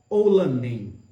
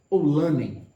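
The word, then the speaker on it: Oulanem: O título dessa obra é Oulanen, ou Oulanen, dependendo da pronúncia.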